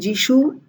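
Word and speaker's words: যীশু: Yesu to Jishu.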